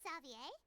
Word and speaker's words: Xavier: okay hey isn't that zavier he's back in F now they say it like zavier not like Xavier zavier okay slay